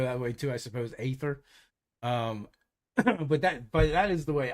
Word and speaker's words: Aether: I think I actually pronounced it Aether, because it's spelled Aether. So almost like a at the front of it, but not quite a hard A. But you could go that way too, I suppose. Aether.